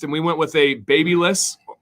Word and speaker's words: Babyliss: we went with a baby list i know there's def different ways to pronounce it uh but that's the way i say it cause i'm from america we went the babyliss rapido